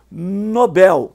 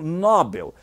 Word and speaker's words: Nobel: pronunciam em corretamente pública ou Nobel que alguns pronunciam Nobel e o famoso gratuito